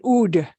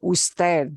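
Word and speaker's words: Ud.: no Mr Smith okay UD is just a an abbreviation that is frequently used for usted but you should know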